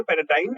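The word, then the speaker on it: paradigm: इसमें जी प्रोनाउंसिएशन में जी जो है साइलेंट है, तो हम बोलेंगे पैराडाइम शिफ्ट, मतलब कि एक कंप्लीट और इम्पोर्टेंट चेंज।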